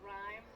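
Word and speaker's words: rime: It's spelled R I M E. So, rhyme. Not like word rhyming, but like a coding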